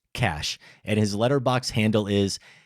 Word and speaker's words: Cache: Cash may perhaps be too demure to weigh in himself, so I wanted to let you know his name is indeed pronounced Cash, and his letterbox handle is Cash Eel, so CACHEELL.